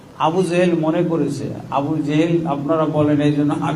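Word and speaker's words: আবু জাহল: কখনো মিথ্যা বলে না আবু জেহেল মনে করেছে আবু জেহেল আপনারা বলেন এইজন্য আমিও বলছি আসলে নাম হলো হল আবু জাহাল।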